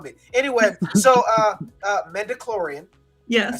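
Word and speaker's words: midi-chlorian: rubbing off on me anyway so uh uh mendiclorian yes i said it right this time we're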